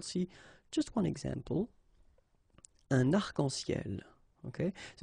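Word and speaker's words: arcs-en-ciel: Okay, you can see that as usual, we don't really pronounce this final S, so phonetically it's almost the same, but then we've got this liaison between the two, des arc-en-ciel. Okay, second situation, un nom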